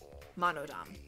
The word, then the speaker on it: Monodam: monodom oh okay sorry it was spelled with a d-a-m so monodom gotcha you are fighting monodum atua is much too